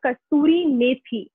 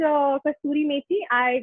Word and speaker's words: kasturi methi: So this one in Hindi is called kasturi methi. Now, Sally, if you want me to spell it, you can write it.